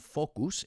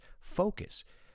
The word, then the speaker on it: focus: It's not focus, it's focus.